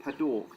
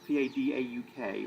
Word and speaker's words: Padauk: Right, the red one is The red one is a type of wood called Padauk, P-A-D-A-U-K, or Padauk. I'm probably going to pronounce it Padauk, because that seems reasonable.